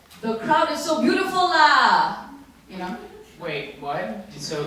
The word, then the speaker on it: lah: You can say it to the crowd like, the crowd is so beautiful lah!